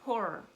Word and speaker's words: horror: language book was that you exert a little extra puff of air to pronounce the second O. It's kind of like that. To the undiscerning ear, you're not going to hear that extra at the end of the word horror.